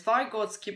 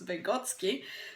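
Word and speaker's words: Vygotsky: discovered voty and votsi some pronounce his surname as voty but CU I'm from his background I know that he was vegotsky so it doesn't really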